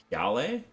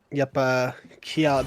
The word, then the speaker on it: Kiale: Great cue there from Gale. Gale is how you pronounce that? Yep. Kiale. Been pronounced a couple ways on stream, but have played with him and can confirm it is Kiale.